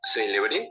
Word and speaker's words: celebré: Por ejemplo, celebré con el acento al inicio significa famoso. Celebré con el acento al final se refiere al verbo celebrar en el tiempo pasado y celebre con el